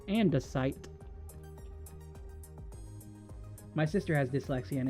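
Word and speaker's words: andesite: I'm sorry, but I hate the way you say andite. Ah, don't feel bad. Apparently, I've been saying it wrong all this time. It's andesight.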